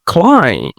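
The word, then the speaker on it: climb: তারপর পি কে বাংলায় আমরা ফ এর মতো করে ব্রিটিশরা, নেটিভ যারা আছে এরা উচ্চারণ করে। তবে ব্যতিক্রম তো আছেই, সেটা বাদে আর কি। ওকে, ক্লাইম, উঠা।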